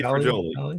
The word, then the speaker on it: Joly: Joly.